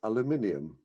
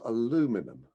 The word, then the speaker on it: aluminium: Number one, there's a light metal that will in future be spelled and pronounced aluminium, not aluminum.